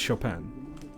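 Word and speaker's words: Chopin: There was Shopan, his protege. Is it Shopan or is it Shopen? I always imagined it was Shopan. You said it right.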